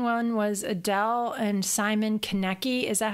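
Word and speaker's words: Konecki: and the main one was Adelle and Simon Connect E is that how you pronounce his last name yeah Kenickie they split after seven years together and they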